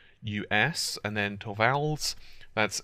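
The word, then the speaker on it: Torvalds: of Linux Creator his name is Linus uh to vals hopefully they pronounced that right that's linnus l i n us and then to vals that's T RV a l DS and the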